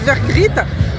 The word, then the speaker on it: Vergriete: Then another mayor came in with the surname Vergriete. It rhymes with "frite" (French fry). Mr. Vergriete throws a dozen yellow plastic potatoes, and one blue and another white.